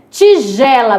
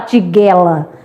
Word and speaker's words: tigela: Tigela. Mudando agora pra tigela do G e do J, né? Tigela é congelo, você não vai falar tiguela, né?